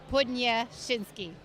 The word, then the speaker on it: Podniesinski: Tell me the right way to pronounce it, just so people are already laughing at me. Podniesinski. Podniesinski.